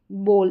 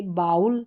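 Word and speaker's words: bowl: इससे पहले आऊ साउंड वाली स्पेलिंग्स हमने देखी थी ओ डब्ल्यू में ब्लो और ये है बोल। इसको बोल पढ़ेंगे बाउल नहीं पढ़ेंगे।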